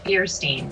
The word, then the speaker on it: Feuerstein: one of the names Joshua how do you pronounce his last name Joshua's last name is Tesmer Tesmer okay sorry and Jen's is feierstein feierstein okay feierstein okay um well let's get